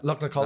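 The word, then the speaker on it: Lugnaquilla: We done Slieve Donard, and then we drove down to Lugnaculla, I think it is, Lugnaculla. Lugnaculla. That's how you say it.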